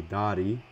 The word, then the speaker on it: Dari: If I'm going to be nitpicky, the A in Dari's pronounced ah, so hey Dari, but that's with a lot of nitpicky.